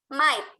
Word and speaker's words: might: GH-nya jangan dibaca. Might.